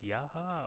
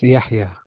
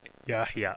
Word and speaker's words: Yahya: John, and should I pronounce it Yaha, or how do I pronounce the name? It's Yahya. Yahya, okay.